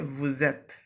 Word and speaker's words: vous êtes: We do a little liaison between s and e.